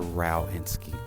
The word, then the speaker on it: Rowinski: Rowinski. I got it wrong. Well, I got it partly right. On the way here, I was like, is it Rowinski or Rowinski?